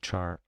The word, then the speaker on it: char: char because like ch I know it stands for character so it should be maybe car but simply because of